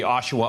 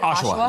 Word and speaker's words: Oshawa: Keith, am I mispronouncing it? Is it Oshawa? Yeah, Oshawa. That's all right.